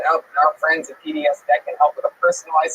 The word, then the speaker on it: PDS Debt: The B is silent. It's PDS Debt.